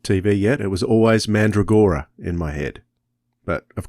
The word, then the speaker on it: Mandragora: How do you pronounce Mandragora. That? Mandragora.